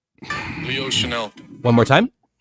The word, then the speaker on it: Chenal: Chenal. Chenal. One more time. Chenal.